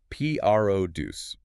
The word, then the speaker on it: produce: It is because usually produce is a verb like to produce a movie, right? But here it's a noun and we stress the first part. Puce.